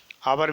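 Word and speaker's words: hour: आवर में भी यह साइलेंट है, यहाँ पर एन का प्रयोग किया गया है।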